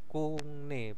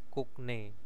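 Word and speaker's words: 국내: Nah, terus ada kungne sopo ya, kungne bacanya kungne ya, bukan kukne, kungne. Jadi gioknya berubah menjadi ing.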